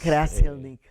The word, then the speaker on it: Krzeselnik: Krzeselnik es Krzeselnik. el apellido en su pronunciación tradicional en la familia. Algunos lo acentúan diferente, ¿no?